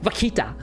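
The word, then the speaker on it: vaquita: If you want to say it like with the Spanish um like Latin accent, it's a it's actually well actually it's pronounced vakita, you know.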